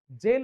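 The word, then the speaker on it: gaol: चा डेस्टिनेशन आणि लिमिट आणि जेल जी एओ एल जीओ एल गोल नाही स्पेलिंग वेगवेगळा आहे जीओ एल गोल म्हणजे काय आपलं उद्दिष्ट असेल ध्येय असेल परंतु दुसरा हा जो शब्द आहे जी एओ एल त्याच प्रोनान्सिएशन सुद्धा जेल असं आहे त्याचा मिनिंग होतो काय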